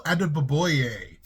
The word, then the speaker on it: Adeboye: murky here in toronto daniel adeboye that's how you pronounce the name he was the 15th